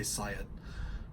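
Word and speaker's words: psiot: are referred to as science or science or however you wanna pronounce it I usually say Siot but what that means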